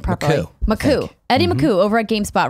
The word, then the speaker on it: Makuch: You told me how to pronounce his name properly. Makuch.